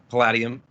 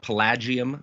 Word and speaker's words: Palladium: a contributor to uh palladium if i pronounce it not pelagium but palladium i think it's palladium but please don't quote me on that i've heard it both ways okay where would you